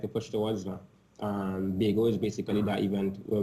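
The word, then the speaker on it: Baego: The name of it is actually Bago. So it's spelled B-A-E-G-O, as in Bay, the urban term, and go to kind of make the short term Tobago.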